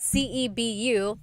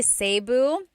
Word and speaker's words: Cebu: So, technically in the Tagalog alphabet, the letter E can be pronounced E or E like the letter I. So, I say Cebu. Cebu. And I know some people say Sabu, but usually it's either Cebu or Sebu.